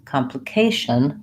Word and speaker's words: complication: all short complicated verses complication the stress pattern changes to third syllable in that word oftentimes you may have